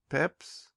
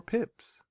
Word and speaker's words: Pepys: It hardly ever sounds the same, it is so easy to pronounce.